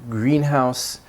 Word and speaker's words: greenhouse: So in greenhouse, the stressed part, the green, the vowel is longer, it sounds louder, it's stretched out, and it's also enhanced